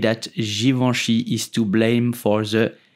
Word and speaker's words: Givenchy: givenchies mosticonic design infact it Goody said that Givenchy is to blame for the little black dress